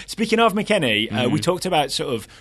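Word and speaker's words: McKennie: it was Western McKenney so McKenney rhymes with penny not McKinney have we heard him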